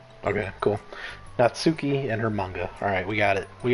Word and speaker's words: manga: the orientation of her manga i'm gonna say manga as well i i think it is actually manga not manga right any any com